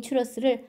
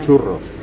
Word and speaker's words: 추러스: 여기서 중요한 건 발음을 잘 하셔야 합니다. 추러스. 한국에선 추러스, 스페인에선 추러스. R 발음은 혀를 좀 굴리셔야 합니다. 한번 따라해 보세요.